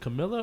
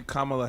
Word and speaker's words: Kamala: her name wrong is is it camilla or it's kamala it's supposed to be kamala harris okay commonly supposed